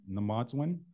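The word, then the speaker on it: Mino-Bimaadiziwin: And I'm going to talk about Anishinaabe Mino-Bimmaadiziwn, and I'm using the Ojibwe pronunciation here. Back home, we would say Anishinaabe Mino-Bimmaadiziwn, Anishinaabe Mino-Bimmaadiziwn. So we would say it differently.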